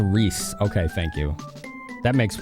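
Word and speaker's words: Riesz: Reys. It's pronounced Reese.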